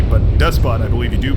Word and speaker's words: Despot: You don't, if you're saying depot is spelled similarly, but you don't pronounce the T, but Despot, I believe you do pronounce the T.